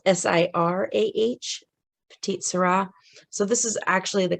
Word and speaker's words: Petite Sirah: on that this close here you can see it's spelled s-i-r-a-h petite syrah so this is actually the common spelling of